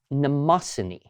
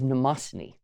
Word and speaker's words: Mnemosyne: It's from the Greek god mnemosyne. Now that is spelled, in case you're curious, Mnemosyne.